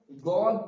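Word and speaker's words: ضاد: এখানে দদ অনেকে দদও বলে আবার জদও বলে, তো এটাও ঠিক তেমন ভাবে উচ্চারিত হবে, দাঁতের মানে জিভের কিনারা মাড়ির দাঁতের সঙ্গে লাগিয়ে উচ্চারিত হবে দদ।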